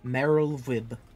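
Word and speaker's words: Merlwyb: um and it is meril Vib got it because W's or V's in whatever language that is I forget what it is Welsh I almost say it's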